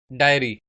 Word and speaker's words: dairy: हमारा जो seventh word है वो है डेयरी, डायरी। इन दोनों की प्रोनाउंसिएशन में थोड़ा सा फर्क है।